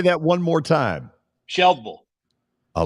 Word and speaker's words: Shelbyville: when I lived there, the Y is silent, right? It's just Shelbyville. Shelbyville. Yeah, it's just Shelbyville. Okay. The way I remember. Say that one more time. Shelbyville.